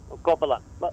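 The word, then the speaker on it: Corbalán: One Corbalan. Corbalan. That's how you say it in French.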